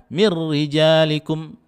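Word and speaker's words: مِن رِجَالِكُم: Hai Marry dzalikum ya tulisannya minri dzalikum bacanya mirrijalikum contoh berikutnya tanwin sekarang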